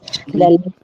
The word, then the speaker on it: Leche: One thing first, it's Leche League, pronounced as Leche. So it means the milk. So it's actually a Spanish word.